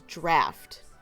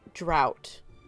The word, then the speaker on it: draught: a word incorrectly because the pronunciation for that word was draft not drought and the captain kept